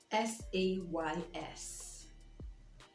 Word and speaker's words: says: Says. Says. Says. And not says. I know that some of us like to put emphasis on every syllable, every part of our word, but sometimes it doesn't just work that way. So it says and not says.